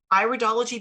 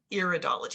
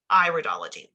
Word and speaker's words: iridology: part of the eye we pronounce this iridology because it is an iris it's not iridology it's iridology and so as we